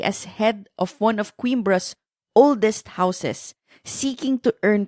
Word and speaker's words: Coimbra: It's pronounced as Coimbra.